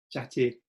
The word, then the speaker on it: Chartier: forgot his name, que fala sobre livros, o Chartier? Chartier, Roger Chartier. Yes. Yes, much better pronounced than me.